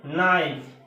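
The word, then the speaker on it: knife: যেমন কি আছে নাইফ, কে নাই এফি, নাইফ, কে is silent, K is silent, এটা হচ্ছে কি লেজি সাইলেন্ট সাউন্ড, ঠিক আছে।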